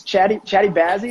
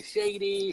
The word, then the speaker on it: Chaddi Bazzi: It's Chaddi Bazzi. Is that how you say it? There you go, Chaddi Bazzi. No, you didn't murder it like other people. Some people call me Shady, Shoddy.